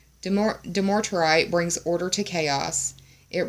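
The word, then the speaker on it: dumortierite: the third eye chakra do more do more to write is how I'm going to pronounce it demotrite brings order to chaos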